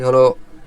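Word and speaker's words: ح: হা ঠিক আছে এটার উচ্চারণের স্থানটা কোথা থেকে উচ্চারণ হবে মাখরাজটাকে এখানে নিচে দেওয়া আছে কন্ঠনালীর মধ্যখান হইতে উচ্চারণ হবে। কন্ঠনালীর মধ্যখান হতে কন্ঠনালী বলতে আমাদের যে গলাটা আছে এই গলার মাঝখানে আমরা সহজে বুঝতে পারি। এই গলার মাঝখান থেকে উচ্চারণ হয় হা এক সেকেন্ড টান হবে।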